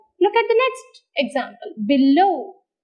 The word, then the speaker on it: below: at the next example below below as b is a big prefix the second syllable takes the stress look at the third